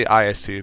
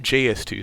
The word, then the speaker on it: IS-2: I say IS-2 because that's the more, like, the Russian pronunciation, but, like, some people call it JS-2.